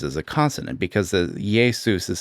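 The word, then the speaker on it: Iesus: a consonant because the Yesus is spelled I in the Latin alphabet is spelled I E S U S and it's pronounced Yesus.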